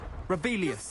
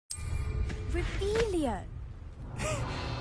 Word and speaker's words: Revelio: Rebellious. You're saying it wrong. Rebellion.